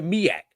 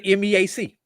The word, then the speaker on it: MEAC: We say the MAK, not the MEAC.